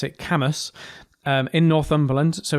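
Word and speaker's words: Cambois: of an unusual word cambras c-a-m-b-o-i-s but you pronounce it camas um in northumberland so it's the the power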